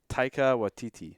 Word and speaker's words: Taika Waititi: it wrong how do you how do you pronounce his name GT Taika Waititi yeah Taika Waititi yeah okay you have to